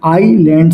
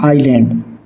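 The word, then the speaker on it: island: पर क्या आएगा एन क्योंकि आइसलैंड का उच्चारण स्वर ध्वनि आईलैंड से शुरू होता है ना आइलैंड तो श्रीलंका इज एन आई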